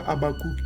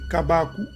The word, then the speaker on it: Kabakou: Ce n'était pas Abakouk comme ici dans Wikipédia, c'est faux. C'est pas Abakouk, c'est Kabakou. Et le kouk là, le consonne final ne se prononce pas, ils ne connaissent rien.